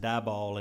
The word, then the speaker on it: Diboll: Just one comment I wanted to make, and well, number one, it's pronounced Diboll and Woden.